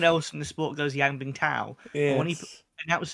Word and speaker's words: Yang Bingtao: Was gonna say, what do you think of when, Yang Bingtao, Yes. that's how you say it, but Rob Walker says Yang Bingchao, and I don't know